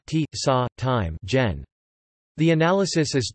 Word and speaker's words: čas: The near open can only appear in the word final stressed syllable before the syllable coda, as in saws, ts, time.